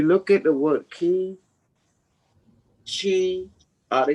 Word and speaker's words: qi: It's actually the QI is pronounced like a CH, chi, Chi, qigong.